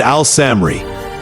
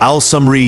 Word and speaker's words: Al-Samri: Zimri starts with a voiced Z, while Al-Samri uses an unvoiced S. Close, since they're both toothy sounds. Zimri's shorter, 3 syllables, versus Al-Samri's 4, and Zimri ends with a short vowel, while Al-Samri raps with a long E.